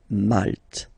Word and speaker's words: Malte: Same thing here, you don't insist on the final E. Malte. Malte.